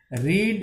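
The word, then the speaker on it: read: में वही होता है, लेकिन इसका प्रोनाउंसिएशन हमें अलग करना है। रीड आर रीडी रीडी होता है, लेकिन हम इसको यहाँ पर पास्ट टेंस में रेड पढ़ेंगे, रीड रेड और रीड।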